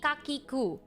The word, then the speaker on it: Kakiku: A store named Kaki Kakiku. It's spelled K-H-A-K-I-K-A-K-I-K-U. Kaki, like khaki, Kakiku.